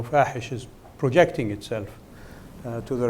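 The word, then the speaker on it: فاحش: ISIS, I call them, if you don't mind, fahish. In Arabic, it rhymes with Daesh, which is the Arabic name for ISIS. In Arabic, fahish means obscene, because I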